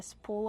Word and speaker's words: spool: Here, I have a spool of thread. Kevin, how do we pronounce spool? Spool. We pronounce with a long oo plus a dark l. Spool. Like cool and pool.